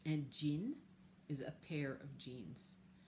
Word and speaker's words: jean: You say it with the same J as we use in English. Un jean is a pair of jeans.